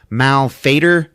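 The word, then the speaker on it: Malfeitor: but um you know have you ever heard of the word Mal fader before and that is how they pronounce this name and it just Falls flat for me like when I see it in print I want to call it malfator I don't know but they call it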